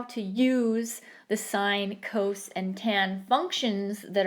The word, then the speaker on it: sine: actually short form for sine si and E which is why it's pronounced as sine and not sin Coast is short for